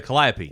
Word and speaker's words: calliope: you say the instrument again oh uh the calliope the calliope he would use his Calliope as